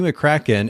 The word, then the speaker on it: McCracken: a little bit but mccracken and am i pronouncing your last name correctly there i should ask before we get started really yeah you said it right all right perfect